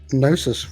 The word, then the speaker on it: gnosis: Either way, so yeah, just give us a fate gnosis roll. I mean, goodness. I'm thankful that they no longer pronounce the G in gnosis. Who are these people? Oh that yeah, did- sorry, I Genosis.